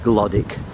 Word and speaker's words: Glodwick: It's spelt Glodwick, it's pronounced Glodwick.